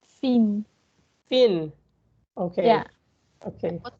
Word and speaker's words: Fien: here we are with some questions to make to how can I pronounce your name? Fien.